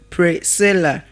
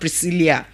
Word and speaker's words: Priscilla: It is pronounced as what? Priscilla. Priscilla. Can we all say Priscilla again? Priscilla and not Priscilia. The name is not Priscilia but what? Priscilla.